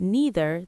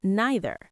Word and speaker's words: neither: One said either, the other said either, one said neither, the other said neither. And the lesson? Even two people who love each other can disagree on pronunciation, and both of them are right.